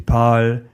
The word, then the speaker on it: parles: For example, je parle, tu parles, il parle. They all sound parle. So the written form changes, but the pronunciation stays similar.